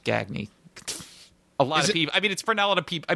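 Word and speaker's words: Gagne: Well that's because it's actually pronounced Gagny.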